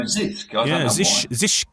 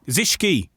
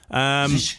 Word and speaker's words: Zischke: I always go Zisk. Zischke, I'm told. Zischke. Yeah, okay. You pronounce the E.